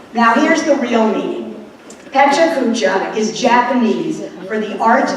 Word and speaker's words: Pecha Kucha: When the concept was first explained to me all of last week, I was told it was Pechechka. A YouTube video by an actual Japanese speaker assured me that it was Pecha Kucha.